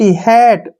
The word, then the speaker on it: hat: HAT, हैट, MAN, मैन।